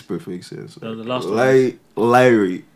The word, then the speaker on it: Lyre: Lyre, that's how you say it. Yeah, Lyre.